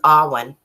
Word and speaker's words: Alwyn: I'm going to call you Awen because that's how I like to pronounce it. Paul says Alwyn. I guess that is how it's pronounced. I like to say Awen.